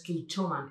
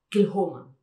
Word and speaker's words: Kilchoman: Luego, por ejemplo, Kilchoman no es Kilchoman, es Kilhoman.